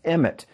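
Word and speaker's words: אמת: And in Hebrew, the word truth is emet, and it's spelled aleph mem tav.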